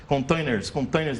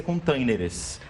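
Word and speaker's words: contêineres: No português é containers. Mas na pronúncia tem o S. Tem o E. Eu só quis dizer, tem o E e o S. Só quis dizer que as pessoas confundem justamente porque na pronúncia, às vezes elas querem colocar igual o inglês e acabam confundindo. Essa palavra já foi aportuguesada e termina com ES, containers.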